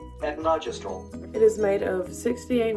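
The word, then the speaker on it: etonogestrel: The pronunciation of this word sounds like etnogestrel.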